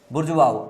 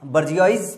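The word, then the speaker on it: bourgeois: इसका जो है बुर्जुआऊ इसको पढ़ते हैं, ये इसका जो है प्रोनाउंसिएशन है बुर्जुआऊ। अब यहाँ पे डब्ल्यू कहीं दिखाई दे रहा है? नहीं दिखाई दे रहा है ना। मैं तो इसको बर्जियाइज पढ़ के बैठा हुआ था, लेकिन जब मैं आज प्रोनाउंसिएशन इसका देख रहा था तो इसके प्रोनाउंसिएशन में बुर्जुआऊ लिखा हुआ था।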